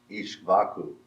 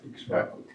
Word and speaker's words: Ikshvaku: He declared it to Manu, and Manu told it to Ishvaku. All right. Is that all right? Pronunciation of Ishvaku. Yeah, Ikshvaku.